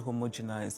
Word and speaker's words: homogenized: And what we define as beauty has become so homogenized. It's become one thing really. Homogenized. Not homogenized.